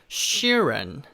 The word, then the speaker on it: Sheeran: 자, 그리고 뒤에는 Sheeran. 자, 우리말로는 실언이라고 하는데요, 실언 이렇게 하시지 마시고요, Sheeran. 이 she라고 하는 게 좀 길게 발음이 돼요.